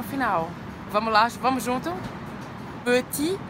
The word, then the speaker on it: petit: Petit, beleza? Peu, biquinho francês, lembra? Faz a boca do O e fala E, peu, petit, não pronuncia o T final, tá?